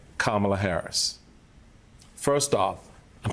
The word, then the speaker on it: Kamala: his space stuck her hand out and said kamla Harris first off I'm saying my name so